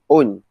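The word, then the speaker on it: -one: o and e okay pronounced not s1 but own so the chain is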